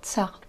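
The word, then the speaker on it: царь: Vous prononcez ce son comme t, s, ts. Vous devez avoir vos dents ensemble. Ts, ts. Vous ne bougez pas vos dents. Donc, t, c, ça donne le son ts.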